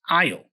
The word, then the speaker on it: aisle: It's interesting that the S here is silent, right? We don't say aisle, we don't pronounce the S. It's just aisle.